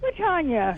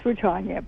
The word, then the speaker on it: Rutanya: Rutanya.